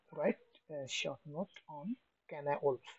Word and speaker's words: Cynewulf: তো right short note on ক্যানা wolf, এটার উচ্চারণটা অনেকভাবে করে যায়, তবে ক্যানা ওলফটাই হচ্ছে সবচেয়ে বেস্ট।